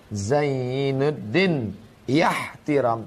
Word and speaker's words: Zainuddin Ihtiram: Zainuddin. Ihtiram. Ininya hilang. Asal katanya Zainu ad-dunya ihtiram. Hiasilah dunia ini dengan sikap saling menghormati. Tapi kemudian saat pengucapannya Zainuddin ihtiram.